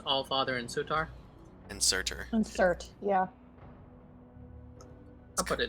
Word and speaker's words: Surtur: And Surtur. Insert, yeah. I'll put it in the notes. It's kind of spelled like Furtyr, which is the name of this guy, except with an S.